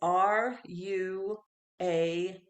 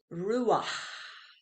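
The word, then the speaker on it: רוּחַ: transliterated into English it's r u a see h is pronounced Rua it's got breath coming out of the end of that word Rua if it's the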